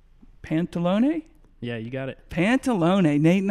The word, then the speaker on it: Pantalone: Pantalone. Nate and I, Troy and I were trying to figure out how to pronounce that.